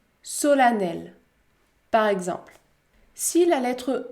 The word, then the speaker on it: solennelle: patiemment la lettre e se prononce également à dans quelques autres mots c'est beaucoup plus rare comme dans le mot femme femme solennelle solennelle par exemple si la